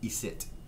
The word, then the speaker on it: icit: Icit is, again, an old pronunciation, an old, we found in France, old French in parts of France, we find that in old Acadian French, it's pronounced isit.